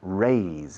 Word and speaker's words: raise: No lo confundes con rise, escrito rice. It's raise, escrito raíce.